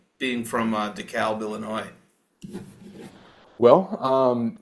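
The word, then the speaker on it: DeKalb: us what it's like being from is it deal is that how I say it deal Illinois uh uh it's decal the C Illinois that's how they pronounce it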